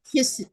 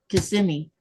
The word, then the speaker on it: Kissimmee: It's called Kissimmee It's called Kissimmee. But if you want to learn how to spell it, just say Kissimmee.